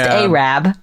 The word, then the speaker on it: Arab: Which is spelled Arab. But Yeah, it's pronounced Arab.